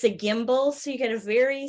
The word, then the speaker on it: gimbal: And it's a gimbal, so you get a very smooth camera movement.